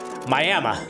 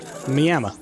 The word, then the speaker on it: Miami: it what they do they pronounce it with an A at the end clearly there's not an